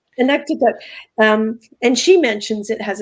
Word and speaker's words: Inuktitut: Is that the right pronunciation? Inuktitut.